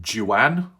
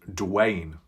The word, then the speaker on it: Dwayne: never mind I think last time I called them Jan but someone said it's pronounced Dwayne where's the bloody w